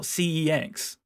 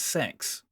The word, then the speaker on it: CeX: Computer Exchange or C they pronounce it sex on the advert it's not CeX it's it's sex which I get haha